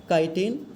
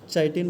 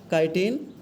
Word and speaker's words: काइटिन: Option है काइटिन, जी हाँ, चाइटिन मत पढ़िएगा इसको, काइटिन, पेप्टिडोग्लाइकोजेन, यहाँ पे स्पेलिंग थोड़ा सा ये है, तीसरा है सेल्यूलोज, चौथा है नन ऑफ दिस।